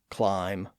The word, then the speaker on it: climb: We also have silent B's at the end of some words from old English like dumb, lamb, climb, comb, and womb.